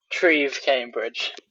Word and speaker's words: Treve Cambridge: Is it Trev Cambridge? T because you're you're British. You probably have a a nice way of saying it. Trieve Cambridge.